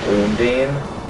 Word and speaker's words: Undine: Mind you, that means spells like Ice Level 2 and Undine, which is how you properly pronounce it, is actually fairly good, but they also cost more MP to actually use them.